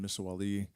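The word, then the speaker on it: Misahuallí: I have another Canadian friend in Misawali, and I'm not pronouncing that incorrectly, by the way. It's not Spanish, it's Quechua. So the double L is a double L.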